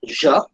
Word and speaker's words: je: The pronunciation is je, the spelling is J-E.